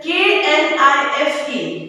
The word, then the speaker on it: knife: Then K-N-I-F-E, K is highlighted there, so you pronounce it as knife, okay.